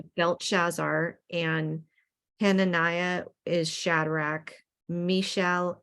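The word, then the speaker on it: Belteshazzar: you go yeah and here I'll I'll pronounce these so it's uh belt shazar and hananiah is Shadrach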